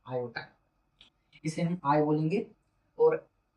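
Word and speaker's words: iota: उस नंबर का नाम था आर और उसे बोलते थे आयोटा। स्पेलिंग मेरी आई ओ टी ए आयोटा।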